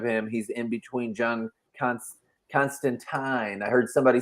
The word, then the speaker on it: Constantine: like written out how he said that it rhymes with wine. In a book. I don't remember if it was Garth Ennis or who wrote it, but they said that it actually is Constantine.